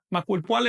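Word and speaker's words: makuilpoali: Maculpale 11 se pronuncia siempre llana, es decir, con acento en la penúltima sílaba.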